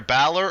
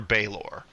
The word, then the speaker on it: Balor: the demon the demon is either Balor or Baylor either one is correct uh yeah it's just